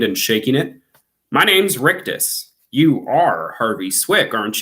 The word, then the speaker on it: Rictus: character just in case it's hard to hear me pronounce it on the webcam it's rictus r-i-c-t-u-s rictus harvey couldn't take